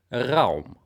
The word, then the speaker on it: Raum: However, today is Raum. And Raum, der Raum in German, because this is a German company and I do live in Germany, so this is the correct pronunciation. Der Raum.